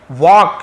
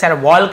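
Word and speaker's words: walk: ठीक है लव प्यार वॉक इसे वॉक पढ़ेंगे एल वॉलक नहीं पढ़ेंगे वॉक वॉक यानी होता है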